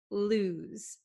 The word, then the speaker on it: lose: So make sure you understand the pronunciation, lose. It's not los and it's not loose, okay? It's lose. Okay, this S sounds like a Z, lose.